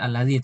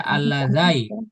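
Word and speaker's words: الذي: Nggak mungkin dibaca alladzai atau alladzi. Ya alladzi benar. Alladzai misalnya nggak mungkin. Pokoknya alladzi.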